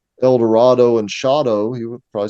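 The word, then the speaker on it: Eldorado: he rhymes El Dorado with shadow. Mm-hmm. Yeah. So he would have been saying El Dorado.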